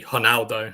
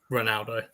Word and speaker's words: Ronaldo: this mate that's how that's how you actually pronounce it because ours at the beginning are hes in Brazil so it's actually Heraldo not Ronaldo brother I know I